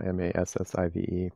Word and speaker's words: MASVF: We spell massive the usual way now, M-A-S-S-I-V-E. But the first version of it was M-A-S-V-F. And that's kind of pronounced massive too.